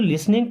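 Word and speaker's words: listening: था क्या आर यू लिसनिंग टू मी आर मीस क्या यू मीस आप लिसनिंग का मतलब सुन रहे हैं या फि टी साइलेंट है ना टू मी मीस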